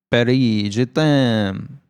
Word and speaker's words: Paris, je t'aime: But no, we both said it horribly wrong. It should be a phrase we know. It's a phrase you could say to your woman, your lover. You could be like, je t'aime, je t'aime. It means love. It means I love you. Oh, yeah, I know. I know that. But how do you say it? Paris, I love you. Paris, je t'aime.